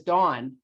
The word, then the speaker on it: Don: wrong and he said his name is dawn i'm like dawn's a girl's name here in the usa but um no he that's they don't have the sound ah where he's from at